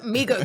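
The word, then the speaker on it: 미국: No, Migook. No, Migook. it's how you say it. Migook or migook. You know what I mean? There's two different ways of saying So it.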